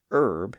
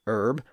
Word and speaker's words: herb: air, h e, iir, and herb in American English. But in British English, the word herb followed along with most of those other French words and also picked up an initial h sound, thereby becoming herb.